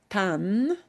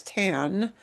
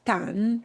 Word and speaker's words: tan: This very short word tan. All right? And never pronounce it as tan like tanning salon. It's tan.